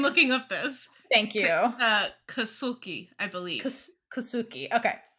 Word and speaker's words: Kasulke: Kasulke, I believe. Kasulke. Okay. Kasulke, not Suki, not your dog.